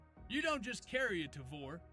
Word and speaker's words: Tavor: You don't just carry a Tavor, you pronounce it correctly. That's Tavor, for all you out there. And you correct other people who don't, like Tavor, or Taver, or Taver.